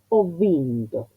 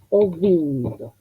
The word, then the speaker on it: ho vinto: Y recordando que o llama a la que sigue o vinto.